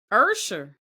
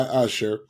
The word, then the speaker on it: Usher: And that's by, I love how Stephanie pronounces his name. Ursher. That's how he Ursher. By Usher.